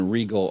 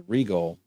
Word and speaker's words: Rigol: I might be pronouncing that wrong. Siglent. Yep, Siglent. And Rigol, RIGOL.